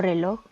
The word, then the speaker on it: reloj: Tenemos una pequeña nota que dice: términos como pared o reloj, por más que no lleven el acento ortográfico como los otros ejemplos, poseen también sílabas tónicas, ya que tanto en la sílaba red de pared y log de reloj existe un énfasis de la voz en la pronunciación, lo que veníamos ya